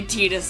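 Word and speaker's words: Tidus: is the one of Titus right or Titus whatever yeah with Titus yeah yeah Titus X yeah apparently tetus is like the Canon pronunciation but no one says that no I call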